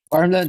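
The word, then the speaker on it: Värmland: Uh, how do you pronounce Varmmland? Varmmland. Farmland is correct.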